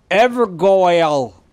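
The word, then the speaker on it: Evergaol: no true justice mike the first person to pronounce evergel correctly evergl ever go el where is this guy oh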